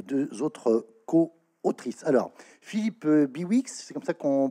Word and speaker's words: Philippe Bihouix: Alors, Philippe Biwix, c'est comme ça qu'on prononce.